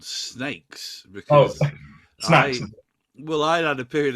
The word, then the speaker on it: Snayx: Dyke said to me actually you say it like snakes you know so even though we put brackets snakes in our Instagram bio we still get snacks all the time I think people